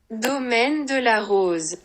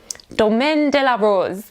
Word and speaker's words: Domaine de la Rose: comments from people telling me off for the pronunciation. So here you go. Domaine de la Rose. Domaine de la Rose.